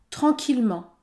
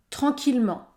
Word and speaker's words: tranquillement: mot samedi samedi ou encore tranquillement tranquillement le E n'est pas prononcé la bonne prononciation de